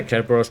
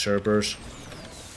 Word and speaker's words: Cerberus: I want to say Kerberos because that's how you say it. But they say Cerberus in the game, so it's Cerberus.